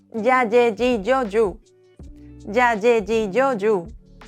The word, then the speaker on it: yo: In Spanish, ella and Y share the same sound. Ya, ye, ji, yo, you.